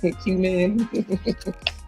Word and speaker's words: cumin: And if you think about how Nikki put it, the letter Q and the word men, cumin.